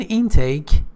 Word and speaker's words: intake: okay so a caffeine intake intake means consumption pay attention that the stress is on the first syllable in take caffeine can intake can